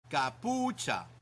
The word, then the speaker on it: capucha: Remember that ch in Spanish sounds like ch in church. Kapucha.